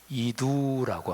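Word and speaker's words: ἰδού: 헬라어 발음으로 이두라고 하는 단어입니다.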